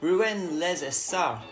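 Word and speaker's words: Rouen-les-Essarts: Today we are at Rouens les Essarts, is the French pronunciation of it, and it's a 4.06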